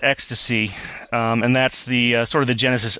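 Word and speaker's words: XTC: on another band which is X T C pronounced X to C and that's the sort of the genesis of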